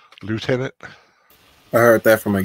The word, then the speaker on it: lieutenant: talking about Colonel you're not talking about the pronunciation of leftenant oh yeah leftenant lieutenant I heard that from a game every day